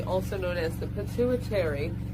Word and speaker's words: pituitary: known as the pituitary, that is said nothing as that is spelled, but if you say that as that is spelled, it is pituitary, because that is in the pit of the brain. That is why P-I-T is there, but they say pituitary, like some other letter is there.